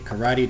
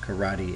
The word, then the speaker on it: karate: this is not a karate chop hand and that word uh while it is pronounced karate in English is not pronounced the same way in Japanese it's pronounced karate the